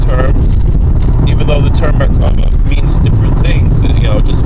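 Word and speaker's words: מרכבה: He pronounces it Merkava, but the way we pronounce it in Hebrew, Merkava, using Merkava meditations to actually visit other planets and then to invite aliens to Earth.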